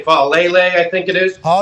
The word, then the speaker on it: Faalele: I don't know how you pronounce his last name. Faalele, I think it is. Oh, yeah, Faalele.